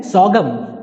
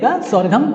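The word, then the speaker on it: sorghum: ज्वार ज्वार बोलते हैं सगम सगम इसको सरगम भी पढ़िए सरगम गलत है सही प्रोनंसिएशन होगा सा गम सागमोर और यह है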